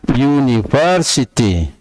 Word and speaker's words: university: Karena ini diucapkannya itu konsonan. Diucapkannya university. University.